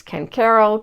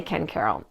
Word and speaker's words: Ken Caryl: And if you're relocating here, you'll probably notice pretty quickly that people pronounce Ken Caryl a few different ways: Ken Caryl, Ken Carl. But most locals tend to say Ken Caryl.